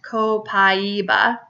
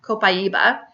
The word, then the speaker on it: copaiba: is copaiba it's a very mild oil it's pronounced copaiba copaiba but it's spelled co Pai BA it is